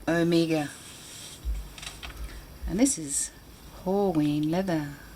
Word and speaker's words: Omega: a halloween leather a halloween leather omega now omega is actually how the name is pronounced the alpha and omega americans say everything